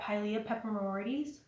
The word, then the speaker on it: Pilea peperomioides: Everybody was all about that Pilea peperomioides.